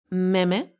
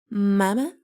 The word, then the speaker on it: meme: How do you pronounce it? Meme? Mama? Mama? No, it's meme.